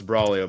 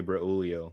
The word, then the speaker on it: Brolio: Uh, it's Brolio, bro. I back in elementary school, everyone called me Brulio because they didn't know how to pronounce